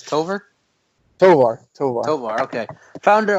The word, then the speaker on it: Tovar: wrong toar tover no you actually got it right man it's tover toar toar toar okay